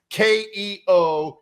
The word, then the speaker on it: Keokuk: It's Keokuk.